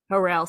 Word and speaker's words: Harrell: uh here how do you say your your last name harel harrell awesome uh how are you